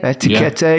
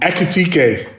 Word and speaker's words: Ekitike: I think I probably just said it wrong. Ekitike. Etiquette. He said it wrong again.